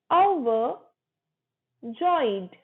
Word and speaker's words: overjoyed: Very glad को बोलो overjoyed, overjoyed, र silent रहेगा, ओवर नहीं है, overjoyed.